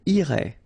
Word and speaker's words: irait: Irait, final T not pronounced.